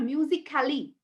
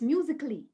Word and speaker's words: musically: no a sound here it's not musically it's musically okay professionally a sound is